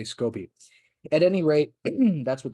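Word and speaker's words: SCOBY: c o y uh I think they pronounce it Scooby but um being an American uh raised on Hannah Barbara cartoons Scooby makes me think of Scooby-Doo so I say scopy at any rate that's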